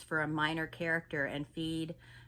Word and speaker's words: Fede: When you work with Fede Alvarez as a producer, I'm sorry if I pronounced that first name wrong. It's Fede.